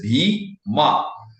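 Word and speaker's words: भीम: a word like bhima, it is bhima, whereas they will make it bhim and almost like a cut the last letter with like a halad. So the right pronunciation is Bhima Krishna. Whereas in the south, what they do sometimes they do Bhima Krishna, which also is not correct.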